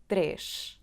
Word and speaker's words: três: When we read this number separately we say: /treʃ, treʃ/, we have the sound /ʃ/ at the end